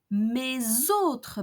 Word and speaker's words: mes autres: Mon autre baguette, ton autre baguette, son autre baguette, mes autres baguettes. So here the liaison is with a Z sound.